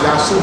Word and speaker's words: Yahshua: His name is pronounced Yahshua Messiah.